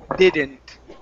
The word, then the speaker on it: didn't: good D's here uh with the English D's your tongue cannot touch your teeth all right because in Spanish when you pronounce the d your tongue touches your teeth and you say the all right so we cannot pronounce Spanish D we are going to pronounce English D which feel like RS Spanish RS so it's did didn't didn't